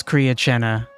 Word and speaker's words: Kriya Chena: The way you pronounce it is Kriya Chena.